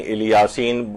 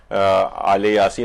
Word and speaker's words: آل یاسین: سلام علی آل یاسین، عام طور پر اس کو جو تلفظ کیا جاتا ہے کہیں الیاسین کچھ لوگ کہتے ہیں، لیکن مختلف جگہوں پہ قاریان جو ہیں وہ آل یاسین، اور روایات کے اندر